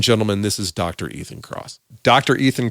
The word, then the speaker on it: Kross: again ladies and gentlemen this is dr ethan cross dr ethan cross welcome to crazy money thanks for having me